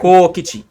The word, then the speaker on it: Kokichi: Sometimes I look at myself and I'm like, I can't pronounce names, even though I speak English. It is Kaokichi. Kaokichi. Oh, Like okay, Kokichi.